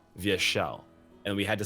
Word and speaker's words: Vyeshal: she'll and I'm like no it's not vile it's via shell and we had to